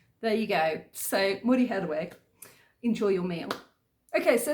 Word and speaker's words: Muryoherwe: But she said that Moriheirwe sounds very similar to move your head away really quickly. So move your head away, move your head away, Muryoherwe, Muryoherwe, Muryoherwe.